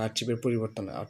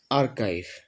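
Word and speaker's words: archive: তো আমরা এটা আর্চিভের পরিবর্তন না, এটা আসলে সঠিক উচ্চারণ করব, ঠিক আছে? সঠিক উচ্চারণটা হচ্ছে আর্চিভ না, সঠিক উচ্চারণ হচ্ছে আর্কাইভ।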